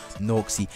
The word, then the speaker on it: Nawxy: I hope I said that right, sorry bro if I didn't, but I'm pretty sure it's pronounced Nawxy. Absolute beast of a gameplay guys.